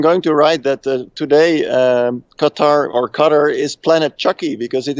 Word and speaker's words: Qatar: Peter Dockers joins us live from on-site at the World Rapid and Blitz Championships in Doha, Qatar.